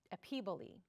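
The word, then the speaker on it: epiboly: And this word that they use to describe this is epiboli. And I had to look that up. That's not a word that you hear every day, but that is how it's pronounced, epiboli.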